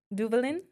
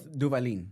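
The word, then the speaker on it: Duvalín: Is it Duvalin? Close. Duvalin. Duvalin. Yes.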